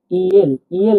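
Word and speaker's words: ел: উদাহরণ আমরা বলছি দেখুন ইল মানে দেশ মানে দেশ দেখুন এটা হবে ই এটা হবে এল কি হল ইল ইল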